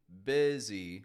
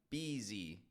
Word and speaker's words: busy: And you might not even hear the difference between saying busy and beezy.